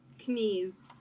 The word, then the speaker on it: knee: about Old English and how they actually did pronounce the K like tonight's can ease and then eventually we